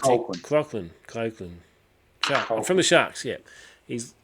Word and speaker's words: Colquhoun: Jesse Clocorn, how do you pronounce his name? Colquhoun. That's Colquhoun.